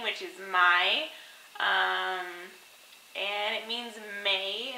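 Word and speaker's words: maj: have a duration of her name which is my um and it means May in Swedish so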